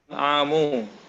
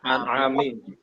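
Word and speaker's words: الْأَنْعَامِ: Suratul An'amu. An'ami kasro. An'ami. Karena disandari.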